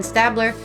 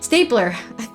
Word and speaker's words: Stabler: ceramic sculpt huh sorry I said Stabler you said Stabler St St stapler that's how was pronouncing it like stapler the fragility of the